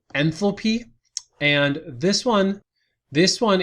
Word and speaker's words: enthalpy: which delta h is the enthalpy has a th in it so it requires that h to have the th sound in it and this last one